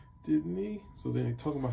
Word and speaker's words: Dibney: And that was the detective story, and he does talk about his wife, everyone's favorite character, Sue Denby, right? Digny, right? I keep saying it wrong. Sorry, guys. Dibney.